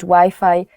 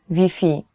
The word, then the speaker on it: Wi-Fi: will not understand you so you have to change the Wi-Fi pronunciation even though the word is the same the spelling is the same you have to change Wi-Fi to VP so if you're looking